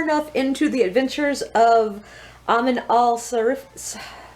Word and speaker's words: Amin al-Sarafi: I'm pretty sure that next I'm going to tackle The Adventures of Amin al-Sarafi.